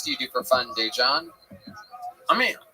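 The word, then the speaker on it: Daegen: His name is spelled D-A-E, which is day. And then it's G-E-N. I know it spells confusing.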